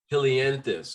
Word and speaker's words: helianthus: poetry book an old song yes am i pronouncing it right i'm not sure if um so yeah it's ode to helianthus hilianthus okay yes yes sir the helianthus is the